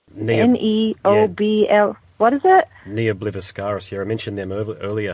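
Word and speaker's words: Ne Obliviscaris: They're from Melbourne, but I can't pronounce their name. It's Neobl. Yeah. What is it? Neobliviscaris.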